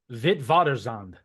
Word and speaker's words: Witwatersrand: This is actually a name in Afrikaans, I believe is how you say it. It's Vit. I mean, actually, Darin, you have it better than I do, so you say it. Witwatersrand.